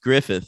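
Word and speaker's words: Gruffudd: Gruff Gruff whatever his name is G it's pronounced Griffith I always it up but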